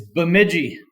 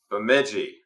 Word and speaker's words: Bemidji: to clarify with you guys how do you pronounce the name of your town it's bmigi bigi y great got it okay so you know